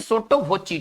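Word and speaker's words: sotto voce: हमारा जो next word है वह है सोट्टो वोची। देखिए इसको कैसे पढ़ेंगे, सोट्टो वोची, इसका उच्चारण करेंगे सोट्टो वोची, ठीक है ना।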